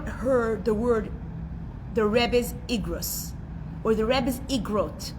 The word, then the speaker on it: Igrot: Anybody has ever heard the word the Rebbe's Igrot or the Rebbe's Igrot? It's spelled in English I-G-R-O-T.